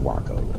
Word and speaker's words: Waco: it's called awake though if you're living in Waco right that's pronounced Walker all right so we